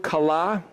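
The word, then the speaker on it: kallah: anybody know this word kala ka la lah is the way you'd pronounce that you know what word that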